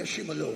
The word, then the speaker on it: Ashimolowo: But now, Mais maintenant, welcome Pastor Matthew Ashimolowo.